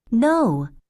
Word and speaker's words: know: ওকে, No. No মানে জানা, no, K-N-O-W here. No মানে এই যে কেটাও কিন্তু সাইলেন্ট থাকবে, no.